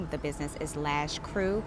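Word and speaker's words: Krewe: Um and the name of the business is Lash Crew. Crew is spelled K R E W E.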